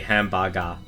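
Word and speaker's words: ハンバーガー: They literally do say hambaga.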